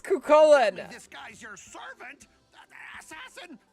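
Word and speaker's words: Chulainn: tend to see a lot of people will pronounce it like cuin, which is not true. You could read it that way, but it's not how the actual name is pronounced. It's kullen.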